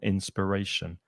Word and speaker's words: inspiration: and the noun inspiration but the stress is not on the final syllable inspiration on the third syllable inspiration it fills me with